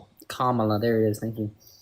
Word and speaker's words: Kamala: Kamla. I don't know how to say Kamla. Kamala.